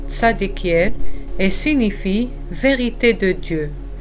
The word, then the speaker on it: Zadkiel: communiquer avec lui l'archange tadekiel est l'un des SEP Archanges les plus puissants du royaume céleste son nom se prononce en hébreu tsadekiel et signifie vérité de